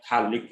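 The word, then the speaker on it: phthalic acid: This is your thallic acid. pH is silent.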